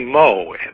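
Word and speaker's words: Meaux: One was a producer down in Texas by the name of Huey Moe, and that's spelled M-E-A-U-X.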